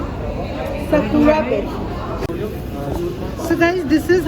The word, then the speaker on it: Sakura: It's Sukara, or how do you pronounce it? Sakura.